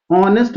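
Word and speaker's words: honest: कर रहा है तो एन ऑनेस्ट में आप सभी को पता है कि एच जो है वो साइलेंट होता है तो यहां पर ओ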